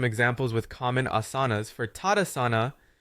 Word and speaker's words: Tadasana: Always remember to pronounce the final A, a common oversight for English speakers. Instead of Tadasan, ensure you say Tadasana.